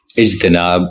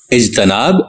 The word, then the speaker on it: اجتناب: فرما ہوتی ہے، جیسے اجتناب، اعتبار، انقلاب، انضمام وغیرہ۔ بعض لوگ ان کو اجتناب، اعتبار، انقلاب اور انضمام پڑھتے ہیں۔ یہ تلفظ غلط ہے کیونکہ اجتناب اور اعتبار افتعال کے وزن پہ ہیں۔ باب افتعال مستقل عربی